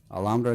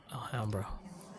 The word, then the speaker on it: Alhambra: Alhambra District. It's in your packet. Alhambra? Alhambra.